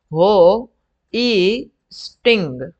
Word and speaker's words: hoisting: बराबर, इसका प्रोनाउंस कुछ इस तरह से होता है, हो ई स्टिंग। Okay, not स्ट्रिंग, sorry, या हो स्टिंग, वो जो पीने वाला स्ट्रिंग होता है ना, हाँ वही वाला।